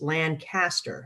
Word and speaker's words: Lancaster: But in California, it's Lancaster. So spelled the same, but just it's pronounced differently.